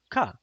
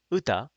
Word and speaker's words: 歌: ka. So whenever you see this character, that's one way to kind of remember, oh, this isn't kyoku, this is uta, because one of the pronunciations is ka, and this has the